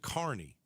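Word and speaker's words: Kearny: Karnney. I pronounce it Carney. It's K E A R N.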